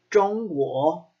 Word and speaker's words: 中国: So, now this is in words like 中国, 中国is China. It has a ZH, 中国. So even when you make that zh sound, you curl your tongue.